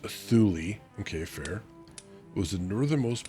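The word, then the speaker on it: Thule: Thu pronounced Thulli.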